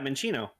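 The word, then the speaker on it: Minccino: love Minchino. It's so cute. Oh, is that how you pronounce it? Yeah, Minchino.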